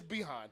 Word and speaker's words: Bijan: It's Behan. Like Dijon mustard.